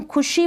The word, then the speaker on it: खुशी: Pronunciation का इसका जब हम खुशी बोल रहे हैं तो खुशी शी को हम ज़्यादा लंबा खींच के नहीं बोल रहे हैं, ज़्यादा इसका लंबा प्रोनाउंसिएशन नहीं हो रहा है। खुशी को थोड़ा बोल के रुक जाते हैं। लिखने में ये बड़ी मात्रा लिखी जा रही है, यानी कि बड़ी ई